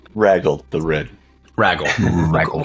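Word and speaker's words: Raguel: regal uh regal regal it's r a g u e l I'm pronouncing it regel but it is ragle the red ragle we'll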